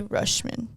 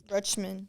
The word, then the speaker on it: Rutschman: of the best catchers in the MLB Adie rushman Rutman Rutman oh okay Adie I two questions for